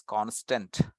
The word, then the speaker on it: const: c n St and we should pronounce that as constant so that is the